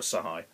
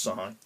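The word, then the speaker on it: Shahi: played by uh sarah sahai i think it's pronounced psy and um you know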